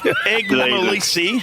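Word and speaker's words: Eggmolesse: How do you say that, Damo? Egmalisi. Egmolsey. Miles off. Egmalisi played 9 AFL games for Derek or whatever your name is.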